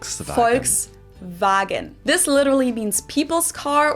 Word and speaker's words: Volkswagen: it would be pronounced folksvagen and not volkswagen. So just imagine that it was spelled with an f and v instead. Folks vagen.